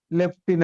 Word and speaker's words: lieutenant: produce i mean spell the word lieutenant left in in general is there any f is there any ff is there any ph is there any gigah but the pronunciation is leptin and see first sound